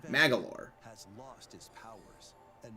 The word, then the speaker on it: Magolor: So that's how you say his name, Magalore.